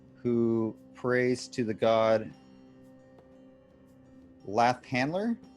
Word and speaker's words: Lathander: prays to the god laugh handler is that how it's pronounced doesn't sound like him like hander lifelander flat hander la l-a-t-h-a-n-d-e-r defender where'd you get that that extra syllable well that was gonna